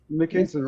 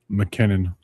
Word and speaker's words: McKinnon: Um, I I feel like we've been saying his name wrong. McKinnon, can you tell us how to pronounce your name? McKinnon.